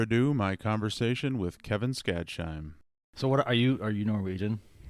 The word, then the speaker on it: Skadsheim: I say Skadsheim, but I've heard it should be Skadsheim, like you're supposed to emphasize the Heim.